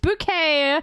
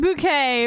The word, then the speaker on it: Bucket: The surname is actually Bucket, but she says on the phone in the series, it's pronounced Bouquet. It's pronounced Bouquet because she's keeping up appearances.